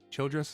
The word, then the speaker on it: Childress: Childress is I think is how you say his last name.